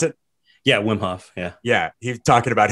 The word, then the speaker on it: Wim Hof: whm Hoff uh yes is that how you pronounce it yeah Wim Hoff Yeah Yeah he talking about him and like